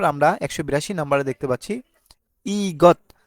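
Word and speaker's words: 이것: দিচ্ছি এটা কিভাবে হলো প্রথমে আমরা এখানে ই পেলাম ই আর গিয়ক যদি মাঝখানে বসে বা শেষে বসে তাহলে গ হবে তার মানে ই গ এখানে গিয়কের সাথে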